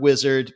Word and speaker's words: Uizard: co-founder and ceo of wizard and so if you're trying to find it it's it's the word wizard but instead of a w it's spelled with a u in the beginning so that's a little